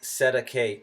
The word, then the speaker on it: cestui: You, the baby, are what is called a Cestui, pronounced Sedeke, trust, the straw man, or rather the collateral of the corpus body of the trust.